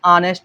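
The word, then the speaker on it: honest: ठीक है, ही इज एन ऑनेस्ट मैन, यहाँ पे याद रखना ए नहीं लगेगा, प्रोनाउंसिएट करोगे तो आ का साउंड आएगा, जो कि एक वॉवेल है।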